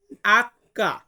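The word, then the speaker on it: acca: জি বলবো এইচ কে আমরা Italian ভাষাতে বলবো আক্কা আক্কা মানে হচ্ছে এইচ এরপর আছে আই আই এটাকে আমরা ইতালিয়ান ভাষাতে উচ্চারণ করব ই ই এবং যেটাকে আমরা যে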